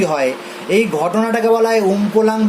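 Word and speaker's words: Umpolung: কার্বনের polarity change হয়ে গেছে না, প্লাস মাইনাস থেকে মাইনাস প্লাস হয়ে গেছে, এটাকে বলা হয় উমপোলাং। বানানটা একটু দেখে নিতে হবে, আমপোলাং বা উমপোলাং বলে কথাটাকে।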